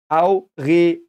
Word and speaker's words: Aureole: Then we have re, which is re, so it is re again, not re, re. Aure. And if there is an E and an O, you pronounce them separately most of the time. Aureole. So that is how you pronounce it.